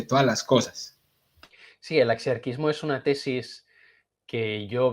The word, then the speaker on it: axiarquismo: ¿Sí o no se pronuncia así? axiarquismo. Muy bien.